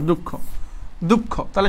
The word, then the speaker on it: দুঃখ: আমার আবার একই রকম এইযে বিসর্গ আছে তাহলে দুবার উচ্চারণ হবে দুঃখ দর সুখার দু খ প্লাস খার দুঃখ দুঃখ তাহলে সর উচ্চার কোনটা হচ্ছে